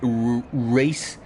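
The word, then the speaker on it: Rhys: It's pronounced race. It's Welsh.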